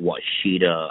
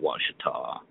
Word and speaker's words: Ouachita: there I call it a lot of people call it what shida I call it Ouachita Washita is that the correct way to say that yeah yeah well people pronounce it differently I've heard it like five different ways now but uh yeah it's